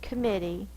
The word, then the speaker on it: committee: if we fet our dog named committee commit the stress is on the middle syllable this one is going